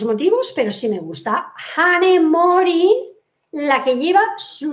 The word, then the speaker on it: Hanae: Honey Mori, la que lleva su nombre. Honey o Hanae. Yo la pronuncio como en latín.